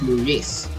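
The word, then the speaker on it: Muñiz: with the actor Frankie Munis um Oh, he's half Puerto Rican. Actually, his last name is Murice, spelled with an N that has a little swiggly on it.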